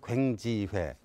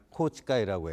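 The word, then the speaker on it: 宏池会: 자민당 내에는 이제 파벌 정치로 이루어지고 있는데 기시다 총리가 소속해 있는 그 파벌이 우리 발음으로는 괭지회, 코치가이라고 해요. 근데 여기가 소수 파벌이에요.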